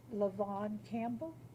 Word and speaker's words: Lavon Campbell: person I have is Lavon Campbell did I pronounce that correctly good evening good evening you said it perfectly right thank you hi